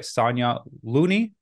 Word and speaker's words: Sonya Looney: the fit vegan podcast today I'm joined by Sonia Looney did I pronounce it right yep Sonia lasagna vegan lasagna